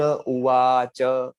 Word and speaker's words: उवाच: यहाँ पर आप देखिए ऐसा बताएंगे आप, अर्जुन उवाच, उवाच, तो वा दीर्घ आएगा, उ का उच्चारण होगा वो जैसे कि उ है तो लघु एक मात्रिक है, 2 मात्रिक वा का है, च का एक मात्रिक है, तो इस तरह से आप उसका उच्चारण करेंगे।